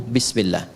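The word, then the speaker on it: بسم الله: Asalnya ini ada alifnya di sini dari kata ismun. Begini. Asalnya bismillah. Dibaca nyambung bismillah. Dan cuma di bismillahirrahmanirrahim alifnya hilang.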